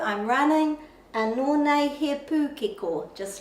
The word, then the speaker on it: pūkeko: So we say pūkeko, but the pronunciation of the letter O in Te Reo Māori is o, pūkeko, pūkeko.